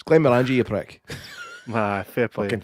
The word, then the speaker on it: Glenmorangie: It's Glenmorangie, you prick.